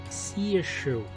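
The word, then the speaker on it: Saoirse: or perhaps something more her name is pronounced see a shoe Lord see a shoe okay so it's a seer shoe not a shrew the issue and means freedom and Gaelic okay so see if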